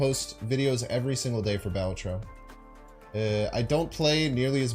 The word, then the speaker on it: Balatro: It's Balatro. The first syllable is what's pushed.